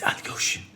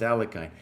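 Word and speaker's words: Alekhine: He's like, cry, it's Alyoshin. It's Alyoshin. No. I think Kostya gave up on that. He gave up on that. Anyways, it's Alyoshin. Yeah, Botvinnik against Alyoshin. Alyoshin, sometimes pronounced Alehkine, back in the day.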